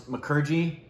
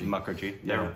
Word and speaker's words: Mukherjee: m there's two pronunciations for it sometimes people pronounce mcer but the predominant and I believe hers as well as like and's is muckery muckery no relation well yes like seagull there's there's